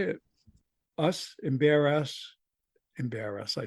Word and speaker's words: Embarrass: not an embarrass, but Embarrass.